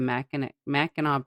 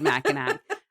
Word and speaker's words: Mackinac: The drive would take like 6 hours, and we'd cross the Mackinac Bridge. Did you almost say Mackinac? I literally almost said Mackinac.